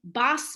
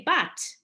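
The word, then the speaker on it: בת: So I, in my Sephardic / standard Hebrew pronunciation, would say bat, and most people would read that word as bat.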